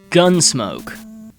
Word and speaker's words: Gun.Smoke: Gunsmoke, which I assume is pronounced without the dot, was released in arcades in 1985 and brought to the NES in 1988.